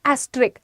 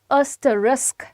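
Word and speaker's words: asterisk: अब मैंने बहुत बार सुना है एस्ट्रिक। एस्टरिक एस्टरिक क्या होता है? इट इज़ एस्टरिस्क।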